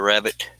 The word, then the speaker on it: rabbet: It's spelled R-A-B-B-E-T. Yeah, if those worked, then that's how you would put the rabbit in the frame.